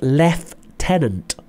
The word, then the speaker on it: lieutenant: from but there you go so it's lieutenant left tenant lieutenant then we've got captain major so to